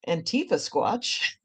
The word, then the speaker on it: Antifasquatch: And I think it's pronounced Antifasquatch.